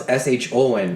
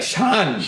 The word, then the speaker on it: Shawn: that's kind of the North Indian style. Because I know the South Indian style is SHON. Shawn. Shawn. Really? And so it's funny, they spell it to the way the accent is.